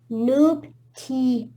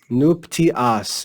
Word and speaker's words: nuptias: Nuptias. Nuptias. Anytime you see the letter A, it's pronounced ah. Always ah, okay? Nuptias.